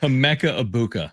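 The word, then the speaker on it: Emeka Egbuka: Emeka Ibuka. Emeka. Yeah. Is how it's pronounced.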